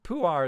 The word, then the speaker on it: Pu'er: Pu'er is the closest English pronunciation I can think of for this.